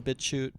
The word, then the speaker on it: BitChute: Yeah, that's why a lot of people are using BitChute and other... BitChute? BitChute. Yeah, BitChute. Wait, if you say just the word CHUTE, how do you say it? Shoot.